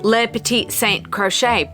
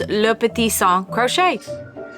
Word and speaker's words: Le Petit Saint Crochet: you may know that I always pronounce my channel name Le Petit Saint crochet but I've been taking French lessons online with Duolingo and I'm learning how to pronounce my channel and Blog name so now I'm going to say the French way which is Lupita song crochet foreign we live